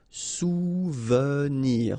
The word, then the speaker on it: souvenir: Souvenir. Okay, O and U, you get OU, souvenir. Okay, here is really pronounced like souvenir.